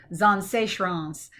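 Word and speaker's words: Zaanse Schans: And let's make sure I pronounce this right, because this is a hard one to pronounce. It is Zanseechrans, and that is a little village on the seaside, and it's really neat.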